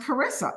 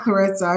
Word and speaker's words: Charissa: my dad named me Karissa c h a r i and it's pronounced Karissa like character like Christmas you can say Christopher